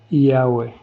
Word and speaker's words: Yahweh: Por lo tanto, YH o WH se pronuncia Yahweh.